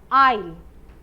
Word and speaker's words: aisle: word is pronounced as aisle. This word is pronounced as aisle और इसी के जैसा pronunciation इसका भी होता है aisle. But इनमें difference क्या है? Spelling इनमें different है लेकिन pronunciation is the same.